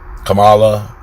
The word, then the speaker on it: Kamala: but you know um kamala kamala kamala kamala because she said all you think of comma and ad law kamala um harris vice